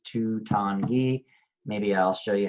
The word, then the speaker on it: Tanguy: on your own quote it's the number 2 followed by it rhymes with dawn of time and then it's like the ghee in geese 2 Tanguy and see this little